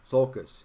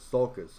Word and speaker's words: sulcus: word either let me look at it i'm mispronouncing it sulcus yeah i was going to say i knew what it was but i wasn't saying right sulcus i'm sorry there's a center one and that